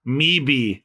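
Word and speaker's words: Möwe: It's German. It means seagull, and it's pronounced me-be.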